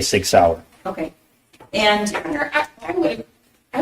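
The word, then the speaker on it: Sig Sauer: mentions the Sig sour he mispronounced sour as Sawyer which if you purchased that firearm and it was for yourself you'd be familiar with how to say Sig sour okay and I would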